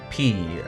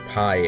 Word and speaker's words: pi: We'll just pretend that that is the Greek letter P, or pi, as some like to mispronounce it.